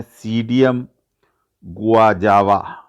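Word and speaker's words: Psidium guajava: अमरूद को बोलते हैं सीडियम गुआजावा। इसमें पी साइलेंट है, अंग्रेजी में पी लिखा हुआ है लेकिन इसको पढ़ते सीडियम है, गुआजावा।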